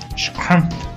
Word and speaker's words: Schrempf: Schrempf. Pero es alemán. ¿Cómo se pronuncia? Schrempf.